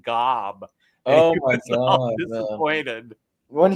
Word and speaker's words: Gob: magician go they say they pronounce it weird I think I think it's job and then they on the TV on the television they're watching they pronounced it Gob oh my God disappointed